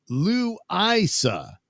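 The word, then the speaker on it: Louisa: Uh, Susan Dolan Doug, it's pronounced Lou Isa County.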